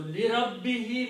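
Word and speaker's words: لربه: So to make easy on the tongue, we pronounce that who also as he.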